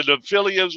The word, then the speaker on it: Nephilim: I call them the Nephilims. What's the correct way to pronounce? Nephilim. Yeah. Nephilim. Nephilim.